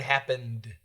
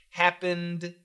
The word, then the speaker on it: happened: That's a D, vibrated. So most likely we're going to use the D here. And we could just put it together. So perfect pronunciation, happened, D, happened, D. But we put those D's together, happened, happened, happened.